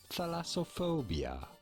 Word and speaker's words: thalassophobia: Well, pronouncing it, thalassophobia.